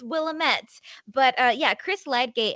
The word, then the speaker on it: Willamette: just want to say apparently i had been pronouncing the name of this newspaper wrong for my entire video and they're like it's willamette willamette which fine guys if